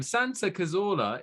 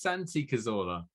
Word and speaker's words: Santi Cazorla: Santa Cazorla is Santi Cazorla.